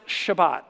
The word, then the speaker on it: Shabbat: one word the sabbath a sabbath is literally a hebrew word uh pronounced shabbat and it is a